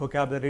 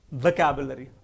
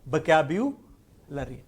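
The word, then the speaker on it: vocabulary: No friends, it's नॉट वोकैबुलरी, इट इज वोकैबुलरी, वोकैब्युलरी, and that is what is very very important.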